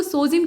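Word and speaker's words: Sejm: तो पोलैंड की जो संसद है उसको सोजिम के नाम से प्रोनाउंस करते हैं, ठीक।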